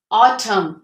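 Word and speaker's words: autumn: वो साइलेंट होता है अब इनको हम कैसे स्पीक आउट करेंगे कैसे प्रोनाउंस करेंगे कॉलम क्या प्रोनाउंस करेंगे इसे कॉलम ऑटम ऑटम टम टम हिम हिम तो इन सब में हमारा ये एन साइलेंट है आगे हम देख लेते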